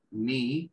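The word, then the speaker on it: knee: a ver primero fíjense esta palabra sola al principio ni que la Cana se pronuncia en inglés y la doble esta se pronuncia como una y larga ni hace referencia a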